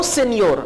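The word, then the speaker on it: señor: Pedro, no सेनियोर। अब देखिए सेनियोर के पूरे स्पेलिंग है और एन के ऊपर एक मद सी है, एक टेल है, इस एन को आप प्रोनाउंस करेंगे नियर, नियर।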